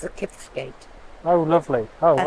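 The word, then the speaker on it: Kiftsgate: Is it Kifsgate or Kipsgate? Kif, F, I think, Kifsgate, yeah.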